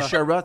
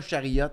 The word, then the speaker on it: Sherrod: c'est Sherrod, c'est pas Chariot.